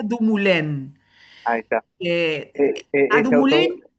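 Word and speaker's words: Dumoulin: me eh se llama eh porque es un autor francés, se pronuncia Dumulén.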